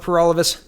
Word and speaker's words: Peralvis: Again, my name is Peralvis. That rhymes with For All of Us, and I'm the People's Party candidate for October federal election.